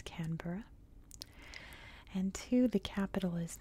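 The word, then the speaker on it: Canberra: canura which one that is how it is pronounced it's not canbera it's canura and two the capital is not Sydney it's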